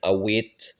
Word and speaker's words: abet: Là aussi, la prononciation peut varier. Abet, ça peut devenir awet, ou des trucs comme ça quand on va plus à l'est, notamment. Et au nord aussi, d'ailleurs, je crois. Hein. Abet, c'est vraiment la prononciation béarnaise.